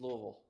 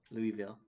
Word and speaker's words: Louisville: It's Louisville. Louisville. It's 2 syllables.